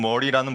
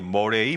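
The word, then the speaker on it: Murray: 첫 번째는 존 머리라는 분이 계세요. 존 머리 머레이 머리라는 분인데 아 저는 이제 머리라고 읽어요. 영어로 하면 머레이이기 때문에 존 머레이라는 웨스트민스터 theological 세미너리 미국에 있는 그 신학교 교수였던 분이 전개했던 성화론이 있어요.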